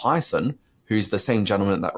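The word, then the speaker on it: Hiaasen: it was by Kyle I believe his surname is pronounced heison who's the same gentleman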